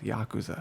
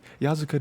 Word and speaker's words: Yakuza: that's what it was I was flipping the two syllables Yakuza I was like yeah yazuka does not sound right yeah Yakuza like you